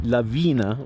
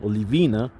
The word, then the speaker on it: Lavina: VI and a they they actually pronounced at levy levena Lavina but there is mispronounced another beautiful